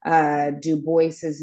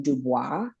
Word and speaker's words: Du Bois: Du Bois's name and Du Bois's father was Haitian as well. Technically, people would probably call him Dubois, but his own upbringing and the way that